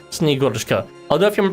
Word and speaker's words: Snegurochka: I looked it up beforehand, so I'm pretty sure it's Snegurochka. Although if you're pronouncing it like in like a sort of